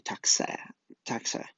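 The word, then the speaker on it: Taktser: Taksur is pronounced roughly Taxa.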